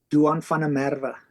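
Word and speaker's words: Duhan van der Merwe: So this is just wanted to show this is the other South African born player, and again you could pronounce his name, Rifle. Duan van der Merwe.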